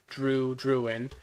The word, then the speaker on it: Druin: It's close to Droo. Not quite the same though. It's got its own, its own spelling, but it has obviously similar pronunciation to Droo, Druin.